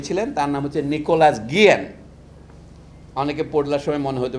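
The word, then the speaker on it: Guillén: ভদ্রলোকের নাম কিউবা বলে যে একটা দেশ আছে, সেখানে এক বিখ্যাত কবি ছিলেন, তার নাম হচ্ছে নিকোলাস গিয়েন, অনেকে পড়লার সময় মনে হতে পারে গিলেন।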